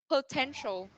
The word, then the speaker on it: potential: perfect okay so so everybody potential yes everybody has uh straight at the right syllable okay the second syllable right okay so that's